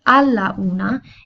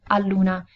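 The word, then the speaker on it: all'una: one o'clock and the reason why we don't say Allah nah is because in that case we would have a followed immediately by you and the two valves together are a bit tricky to pronounce so a la una is more difficult to say so what we do is we remove the final a hear from Allah and we replace it with an apostrophe so al Luna is much easier to pronounce we also have two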